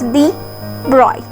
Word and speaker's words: de Broglie: In 1924, the French physicist Louis Victor de Broglie, pronounced as de Broglie, 1892 to 1987, put